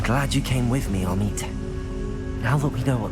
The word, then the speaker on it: Amit: It's Amit. It's not Amit.